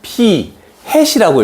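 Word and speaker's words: p̂: 수학자들이 만들어서, 그래서 X 바라고 읽는데 여기서는 P 햇이라고 읽습니다.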